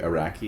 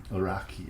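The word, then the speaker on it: Araki: of Is it Greg Iraqi? Is that how we're saying that? I think that's right. I could be wrong. I'd say that it is a R a K Iraqi.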